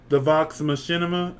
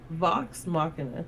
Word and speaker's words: Vox Machina: So, I was saying, I'm going to get to it, and then, I watched the Vox Machinima. Am I saying that right? Vox Machina.